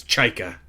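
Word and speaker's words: Chykka: I'm going to make the official declaration is Chica. That's how we're doing it here.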